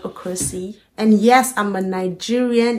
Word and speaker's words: Okosi: A lot of people pronounce the Okosi as Okosi. If you're one of them, you're forgiven. And if you're about to be one of them, I forgive you already. But please, it's Okosi and not Okosi.